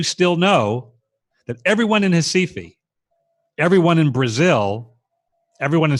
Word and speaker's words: Recife: It's pronounced Recife in Portuguese. Looks like Recife, Recife.